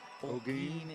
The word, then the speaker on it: Olguin: They're pronouncing it right. I'm not. Olguin. Olguin is the pronunciation for the Wenatchee wrestler.